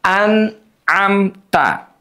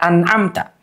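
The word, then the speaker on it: أنعمت: perhatikan juga adalah kalimat an'amta ya. Ada dua hukum izhar dikata an'amta. Izhar yang pertama adalah pertemuan nun mati dengan ain an. Izahar yang kedua pertemuan mim mati dengan ta. Amta. Anamta.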